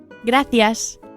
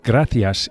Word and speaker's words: gracias: The C of gracias is pronounced as an English th, as in thanks, the same word. Gracias. Gracias. However, in most Latin American countries, the soft C is pronounced as an S, so you'll hear gracias